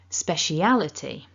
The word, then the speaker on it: speciality: you can see that the primary stress is on syllable three al so that's the strongest stress and then we've got a second slightly weaker stress on smash so this word kind of goes up and down a bit like a roller coaster speciality speciality okay so